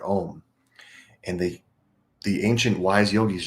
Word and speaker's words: Om: So there's something very special about the AU and the M syllables in the word Om.